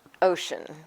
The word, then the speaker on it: Ossian: My name is Ossian. It's Okay. spelled Ossian, but it's pronounced ocean like the water.